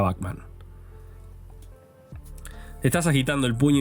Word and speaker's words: Bachman: Y por cierto, sí, se pronuncia Bachman.